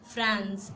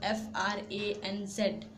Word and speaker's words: Franz: Hamel, who was the French teacher, and Franz, it's pronounced Franz, Franz, who was one of Hamel's students, and they both belonged to the district of Alsace.